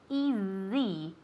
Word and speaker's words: easy: because it's not easy it's easy with a z sound okay take it easy